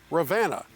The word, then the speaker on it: Ravenna: We have 2 places left to show you on this tour, and the next one is located in Ravenna. That's how the locals say it.